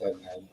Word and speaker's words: Ednard: Is that, did I pronounce that right, Ednard? Yes, you got it correct. My name is Ednard.